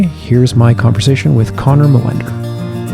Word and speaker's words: Molander: pronouncing your name right how do you say it in the proper Scandinavian pronunciation I think it's molinder I wouldn't want to say that to Swedish people their eyes light up is your background Swedish